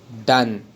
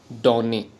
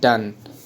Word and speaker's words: Donne: It is pronounced done, not donny. It is pronounced done.